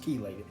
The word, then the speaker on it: chelated: however you want to pronounce it but it's pronounced chelated generally this is the one that you're gonna